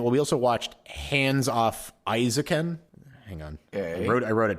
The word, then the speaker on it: Isekai: And then we also watched Hands Off Isekai. Hang on. I wrote it down. Did I pronounce that right? Yeah, Isekai.